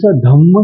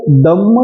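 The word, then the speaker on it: दम्म: एक शब्द लक्षात घ्या काही जण बोलताना पुरी धम्म सारथी अस म्हणतात तो धम्म नसून द उत्तर आहे द पुरीस दम सारथी अशा प्रकारच उच्चारण आप थ व्हायला पाहिजे म्हणजे पुरुषांना आणि मानवांना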